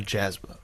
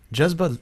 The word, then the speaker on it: Jazba: this by the way the word's not jasmine oh i'm sorry am i saying it right no you're not everybody says it jasmine because that's how it's spelled what is it it started with jesba jazba is the uh or the word for passion it means a drive that